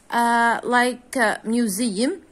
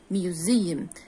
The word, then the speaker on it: museum: as it is s but as if it is z like this okay museum exercise music okay what